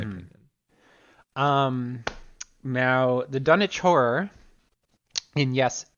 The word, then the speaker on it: Dunwich: Um, Now the Dunwich Horror, and yes, there is a W, but it is pronounced Dunwich, is It's just about my favorite Elder God, a yes, Yog-Sothoth.